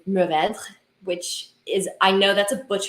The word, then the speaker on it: Mourvèdre: But the proper way to say that word would be very French, and it is Mourvèdre, which is, I know that's a butchering.